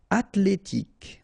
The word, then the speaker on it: athlétique: Colère en colère artificiel athlétique ok remember that h doesn't exist.